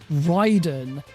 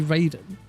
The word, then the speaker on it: Raiden: Like, how many how many times has he heard the name pronounced Ryden, but still thinks that it's supposed to be Raiden?